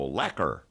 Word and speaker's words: Urlacher: the Bears call him Urlacher I say Urlacher I say correct echo it's little middle linebacker so how does would you say it rhymes with Becker so laquer anyway whatever Casey Urlacher